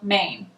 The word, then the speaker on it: Mein: With Carolyn L. Main. Like lo mein.